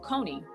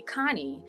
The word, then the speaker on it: Koni: so um you know my name is pronounced con however um my sister um I I don't know which sister it was but my older sister was like you know she didn't like the pronunciation of my name and so she started calling me Connie and so like all